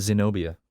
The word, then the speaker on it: Zenobia: yeah my name is Zenobia yeah her name is sino Pia it's actually a really cool name it sounds like xenophobia just with like some syllables cut out there you go like